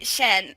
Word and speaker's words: Shen: the middle is Peacock, Shun the Peacock. Shun, yeah. Lord Shen. I love how you're like, Amy, it's actually Shen.